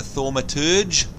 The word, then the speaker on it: thaumaturge: the two major classes the conjurer and the thaumaturge that's how you say it then we've got